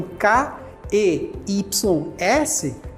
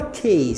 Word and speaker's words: keys: que é escrito com k e ys não se fala cas se fala Keys Keys o som o som é da letra i Keys isso acontece muito